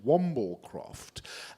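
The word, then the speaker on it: wamblecropped: And the correct pronunciation is actually Wamblecroft.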